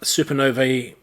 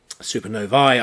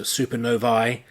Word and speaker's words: supernovae: going to go through these last bits about supernovae supernovae I should say and if you have an AE and the end of a latin word it's pronounced I so supernovae and black holes we already should know roughly